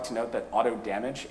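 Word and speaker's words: AutoDMG: like to note that auto damage is how pair himself has indicated he wants it to be pronounced i myself have nothing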